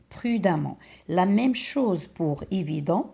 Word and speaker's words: prudemment: écrire jusque là et on va doubler le M et ça devient prudemment avec double em et là ce e on le prononce pas on dit prudemment la même chose pour